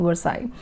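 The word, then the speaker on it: Versailles: आई कहते हैं उसको ल नहीं प्रोनाउंस होता है पैलेस ऑफ विवर्स आई अब इसका खर्चा ही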